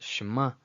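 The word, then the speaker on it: שמע: As you can see here with Shema, instead of Shema, it's not Shema, it's Shema. And Bracha, Bracha, not Beracha.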